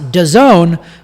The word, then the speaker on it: DAZN: pronounce it dazn but it's d-a-z-n is how it is but it's pronounced dazon but if you're listening